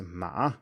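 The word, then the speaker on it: 马: a different tone so horse is ma with a third tone and mother is ma with a first tone and assuming that you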